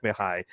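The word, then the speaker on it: Mihaly: know who we're talking about it's mahai shizek mihai and the only reason i know how to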